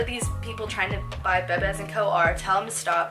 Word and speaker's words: Bebés: And then the pronunciation of a word means nothing to them. So even though our brand is Bebés Co, meaning like our babies in Spanish, they don't care about that. The pronunciation could be misconstrued by somebody that looks at our name and might think, oh, that's Bebés Co, which we do get called that a lot.